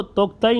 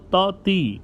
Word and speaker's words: Tauktae: ये जो तोक्ताई नाम का तूफान है, असल में इसको प्रिंट मीडिया में आपने तोक्ताई के स्पेलिंग्स के साथ देखा होगा, TAUKTAE, जिससे महसूस होता है कि इसका नाम तोक्ताई है, लेकिन असल में इसको तौती कह के प्रोनाउंस करना चाहिए। सही प्रोनाउंसिएशन इसकी ये है।